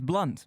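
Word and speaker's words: Blount: change his name while his name was always pronounced blunt he found that people seemed to get it wrong so he removed the O from his last name to avoid any confusion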